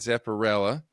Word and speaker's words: Zepperella: it up she's a drummer for the band Zepparella a Leed Zepp and tribute band but she's